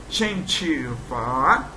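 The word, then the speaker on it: 针灸法: se diz, está aqui, escreve Zhen Jiu Fa, pronuncia Chen Chi Fa, que significa tratamento feito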